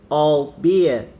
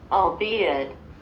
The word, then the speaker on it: albeit: the last t albeit i'll be it you see you don't pronounce the last letter oh beer he tried